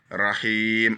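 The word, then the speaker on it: رَحِيم: Rahim, on tire un peu le hi.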